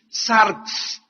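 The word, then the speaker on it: σάρξ: cuerpo la palabra carne es una palabra griega que se escribe sarx s de Samuel a r x sarx y esta palabra sarx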